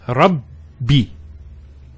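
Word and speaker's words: رَبِّي: The first Ba takes a Sukoon. And the second takes a Kasra. So it's Rabbi.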